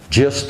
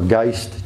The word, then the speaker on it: Gist: trip where Washington and Christopher gist or Geist just I believe his proper pronunciation made a homemade raft